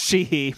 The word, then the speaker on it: Sheehy: David Sheehy. It's just Sheehy, but I wanted to just make that noise.